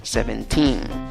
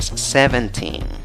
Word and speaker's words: seventeen: tercera sílaba por eso es que no la pronuncia seventeen seventeen sino la pronuncia seventeen un buen secreto este es un tipo mueve los hombros al alzar el volumen al ponerle fuerza a las sílabas eso te ayuda a recordar dónde ponerle la fuerza de voz seventeen seventeen ok bien